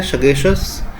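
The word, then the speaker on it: sagacious: है ठीक है सतीश इसका उच्चारण होता है सगेशियस बुद्धिमान या समझदार को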